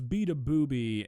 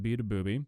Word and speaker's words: Beabadoobee: Okay, so I'm aware that to a lot of you guys, the words Beabadoobee and NBA YoungBoy are not gonna mean a whole lot.